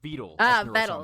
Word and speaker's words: Vedal: for sponsoring this video meet vetal 987 or vetle pronounces it he has been developing